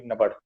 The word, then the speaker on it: NABAD: And the short from NBD, the pronunciation would be NABAD.